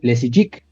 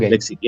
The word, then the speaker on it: Leczycki: Lexiki, te faltó una I al Lexiki. final. Ok. Lexiki, es de origen polaco.